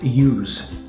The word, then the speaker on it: use: with s and it's if it's a verb pronounce it as a see okay so for example use use is a verb it's an action so I pronounce the ass as I see use use the computer